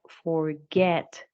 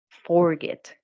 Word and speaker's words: forget: With forget, again, the last syllable is the one that is stressed. You have forget, not forget.